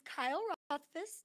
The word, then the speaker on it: Rothfuss: I am Elaine Pauly, president of MagnaWave, and joining me today is Kyle Rothfuss. Did I say it right again? You sure did.